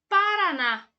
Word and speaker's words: Paraná: então vamos lá pessoal a palavra Paraná conhece sílaba tônica de Paraná é o na oxítona sempre que a sílaba tônica for a última será uma oxítona agora a palavra Amarelo